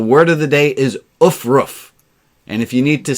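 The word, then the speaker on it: aufruf: And the word of the day is ufruf. And if you need to spell that, it's A-U-F-R-U-F.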